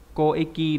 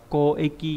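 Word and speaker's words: 交易: Hay là đọc là koeki, đúng nhỉ? Giao dịch. Lúc nãy đã cho các bạn xem ví dụ rồi đấy. Đọc là koeki nhá.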